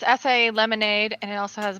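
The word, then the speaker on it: açaí: It is the do we pronounce it acai? Acai, but go ahead. So it's acai lemonade, and it also has blueberry in it,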